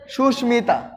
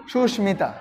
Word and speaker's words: সুস্মিতা: তারপরে আমরা আরেকটা উদাহরণ হিসেবে লিখতে পারি সুস্মিতা, সুস্মিতা। এটার যদি আমরা উচ্চারণ লিখি কি হবে? সুস্মিতা।